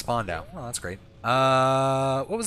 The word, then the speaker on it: Spandau: Apparently it's pronounced Spandau.